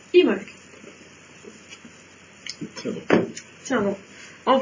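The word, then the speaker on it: Imbolc: je fais un bolk, sinon imbolk. Et tu te serais trompé quand même. Ouais. Tout simplement parce que là aussi c'est gaélique et qu'en gaélique, le B, je l'oublie et on va prononcer imolk.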